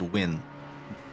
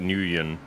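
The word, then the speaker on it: Nguyen: nuan or Nan uh that's typically pronounced win oh okay we were talking about this before you got here CH so I I thought the G would be silent so I thought it'd be like newon um yeah I've known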